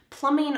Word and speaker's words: plumbing: gonna find some plumbing plumbing are the pipes that bring the water to your faucet and then away from your drain notice that the b here is silent plum in plumbing we're going to be